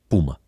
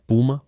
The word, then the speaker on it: Puma: nome que todos conhecemos Puma ele achava que soava melhor e dizia que os atletas queriam ser como um Puma novamente dependendo de onde você mora pode pronunciar puma ou Puma dividir uma empresa em